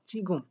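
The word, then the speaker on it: 지금: তাহলে গ, তার সাথে হুসু আর ম, চিগুম। তাই এটার উচ্চারণ করবেন আপনারা চিগুম।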